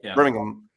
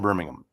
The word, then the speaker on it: Birmingham: And I've learned you got to say it like Birmingham. You don't say Birmingham. You got to say it with without the H. Birmingham.